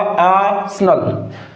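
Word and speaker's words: arsenal: ये जो आर है ना ये आर नहीं बोला जाएगा दोस्तों। यहां पर ये क्या है? साइलेंट है। इसका क्या प्रोनंसिएशन होगा? करेक्ट आसन। क्या होगा? आसनल।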